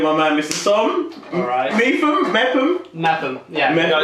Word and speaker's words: Mepham: And I have no idea where that name comes from, but there's a theory in the family that because you pronounce it Mepham, not Mepham, that somewhere along my ancestry someone pronounced it wrong and it stuck.